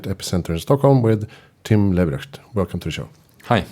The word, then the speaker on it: Leberecht: And is the pronunciation Leberecht? Perfect. Yeah. It means live right, do the right thing.